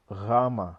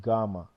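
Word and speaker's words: γάμμα: not beta it's Vita Rama not gamma it's actually double when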